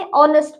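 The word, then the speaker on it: honest: ऑनेस्ट, इसमें भी ओ से पहले एच है ना, तो हम इसे साइलेंट रखेंगे, ऑनेस्ट पढ़ेंगे, ऑनेस्ट।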